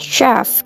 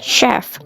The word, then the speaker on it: chef: Ini juga bacanya chef, karena kan kita taunya CH itu ceh ya, tapi dibacanya chef.